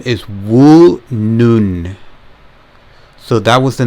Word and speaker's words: Woonun: this the um specifications the brand name is woo noon so that was the name that i couldn't remember or pronounce woo noon so the case material supposed